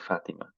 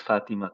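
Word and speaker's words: فاطمة: The name actually is Fatima too. There's a ta marbuta then. We don't say it, we don't pronounce it.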